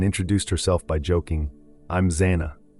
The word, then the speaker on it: Xana: herself by joking, "I'm Zana," pronounced Xanax, without the X.